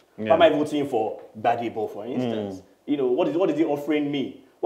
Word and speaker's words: Gbadebo: You pronounce my new energy. Gbadebo.